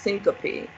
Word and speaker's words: syncope: need to be familiar with it it's actually pronounced syncope and it means to faint okay so um